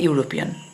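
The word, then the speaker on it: European: এ বসে, তাহলে এখানে হবে সি ইজ এ ইউরোপিয়ান।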